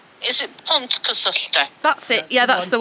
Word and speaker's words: Pontcysyllte: You know the aqueduct that I can't pronounce that's down near Chirk? Yeah. Yeah, how do you actually... Pontcysyllte. That's it. Or is it wrong? It's wrong. Pontcysyllte. Is it Pontcysyllte?